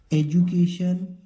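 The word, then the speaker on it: education: एजुकेशन, यहाँ पर डी को जू पढ़ेंगे, केशन, एजुकेशन।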